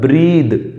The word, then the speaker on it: breathe: एक तो होता है BREATH, एक होता है BREATHE। ये है ब्रीद, BREATHE होता है ब्रीद, ये वर्ब है, एंड BREATHE होता है